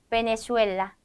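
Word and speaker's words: Venezuela: 볼게요 자 그다음은 배입니다 배는 읍처럼 발음을 해 주시면 됩니다 그래서 바까 바까 베네수엘라 베네수엘라 비엔토 비엔토라고 읽어 주시면 되는 거예요 자 넘어가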